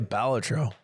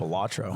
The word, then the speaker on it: Balatro: That's pronounced balatro, not I balatro.